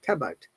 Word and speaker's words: cupboard: Okay, remember that the basic difference between the American and British accent is here in this sound letter R. In British accent we don't pronounce letter R. That's why there is no R. Cupboard. Cupboard. Cupboard. No R.